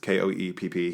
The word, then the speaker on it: Koepp: I think it's pronounced Koepp.